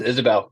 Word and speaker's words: Isobel: is Isabel Isobel um it's just Isabelle like the name yeah cool it's just the the Scottish where spelling it oh sure yeah